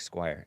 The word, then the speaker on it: Squire: megan squire m-e-g-a-n squire spelled like squire s-q-u-i-r-e megan squire red-haired lady